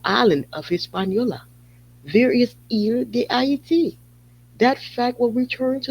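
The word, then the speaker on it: Il-D'Hayti: Il-DE-AITI.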